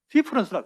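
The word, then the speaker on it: différance: 차연이라는 개념이 있는데 그것도 difference를 E를 A로 바꿔놓고 difference라 그래요. 발음은 똑같아요.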